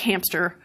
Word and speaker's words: hamster: Well, what's happening is that when you say the word hamster, you're moving from the sound M, which is voiced, to the sound S, which is not voiced. And as you do that, sometimes you can end up making a voiceless stop in between. So you go from hamster.